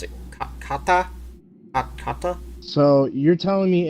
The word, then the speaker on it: kata: I learned in my particular school was how do you pronounce it? Kata.